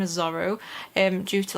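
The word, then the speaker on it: Zoro: to address first i was pronouncing dora verona's name wrong so his name is zorro and due to like some copyright or something with disney so okay i'm gonna say zorro from now on but not mistake obviously if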